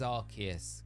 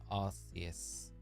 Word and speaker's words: Arceus: Thought it was Arceus with a hard K sound because of Sil Valley's Arceus system. Arceus. It is Arceus because it's not Arceus.